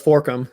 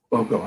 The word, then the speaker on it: Forcum: His name is Forcum. Is that correct? Is that how I pronounce it last name? It's pretty close. Forcum, yeah. Forcum.